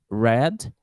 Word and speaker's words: read: Or read, put in the past, that we pronounce red, and the color red.